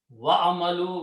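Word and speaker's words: وَاعْمَلُوا: Wa'amalu, when you put a vav in the beginning, you do not pronounce this alif.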